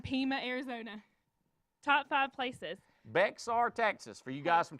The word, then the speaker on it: Bexar: arizona top five places bexar texas for you guys from texas how do you say it i'm just gonna go with backside i wasn't an english major sorry bear oh lord wow i